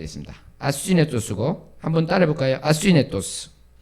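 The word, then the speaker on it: ἀσύνετος: 아스위네토스.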